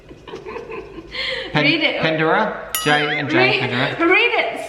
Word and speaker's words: Panaderya: So JNJ Panaderya. Read it. Panaderya. JNJ Panaderya. Read it syllable by syllable.